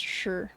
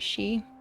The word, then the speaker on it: shi: pronounced sure correct um normally that normally people would pronounce that she she but that would not be correct um I think XI she would be correct but Shi is always sure which is weird on this